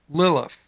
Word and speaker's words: Lilith: Now, in verse 14, when it mentions the screech owl, Hebrew word, and basically in English you pronounce it Lilith, L-I-L-I-T-H.